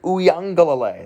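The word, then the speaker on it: Uiagalelei: hauled in a 53-yard touchdown pass from dj uyangalalay that's how you pronounce his name i know a lot of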